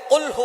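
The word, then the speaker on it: قُلْ هُوَ: আল্লাহ পাক রাব্বুল আলামীন এখানে বলছেন কুলহু আল্লাহু আহাদ। এখানে কফ দিয়ে পড়ছেন কিন্তু অনেকেই ভুল করে উচ্চারণ সঠিক না হওয়ার কারণে তারা পড়ে কাফ দিয়ে।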